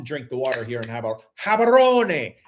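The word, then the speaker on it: Gaborone: But no, I often drink the water here in Habaron. It's not Gabberon. It's not Gabberon. It's habaron because in satswana the g is pronounced as a habaron.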